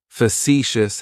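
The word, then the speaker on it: facetious: Facicious has three syllables and the stress is on that second syllable. It's like you're just saying the letter C for C. That first syllable has that schwah that h sound.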